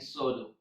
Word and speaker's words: pseudo: In English, all the words that starts with PS have a silent P, like psalm, psalter, psychology, psychic, psychotic, and pseudo.